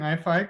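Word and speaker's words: IAIFI: is yours yeah um yeah so thanks for pronouncing ifi correctly um you're the first person not in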